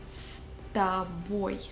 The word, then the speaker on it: С тобой: С and тобой we pronounce like one word. С тобой.